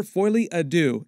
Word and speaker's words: Folie à Deux: The title is pronounced Joker Folie à Deux, and it's French for Joker Shared Madness, as in Joker Shared Psychotic Episode.